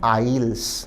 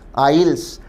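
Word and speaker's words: aisles: इस शब्द का उच्चारण है आइल्स। आइल्स।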